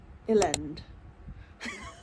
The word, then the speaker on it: Elend: It's like Lend with an E at the front. Elend.